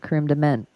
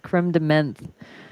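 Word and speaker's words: crème de menthe: National Double Cheeseburger um no it's not cre de mint no no it's creeme de mint like it's like spelled like uh menth right yeah crem Dem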